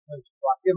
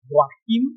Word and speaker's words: Joachim: It's originally from like German, Joachim. Right. But we speak English, so we say Joachim.